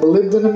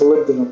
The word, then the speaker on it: molybdenum: Did you guys know what molybdenum is?